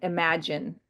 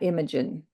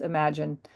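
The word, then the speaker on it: Imagen: They pronounce it imagine, not imagining.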